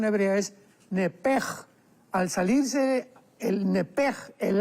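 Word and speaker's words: נפש: Entonces, la pronunciación hebrea es nepej.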